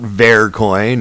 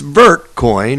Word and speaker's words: Vertcoin: me that it's not fair coin as in the french pronunciation but it's vertcoin as in vertical and that's where we